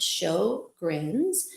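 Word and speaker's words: Sjögren's: Um, so yes, it is pronounced show grins.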